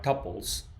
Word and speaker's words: tuple: The second product type we will look at are tuples. also known as tuples. There are different ways of pronouncing it. I prefer tuple.